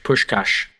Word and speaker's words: Puskás: man's name okay so I asked the lady it's Fen push cash so if we sound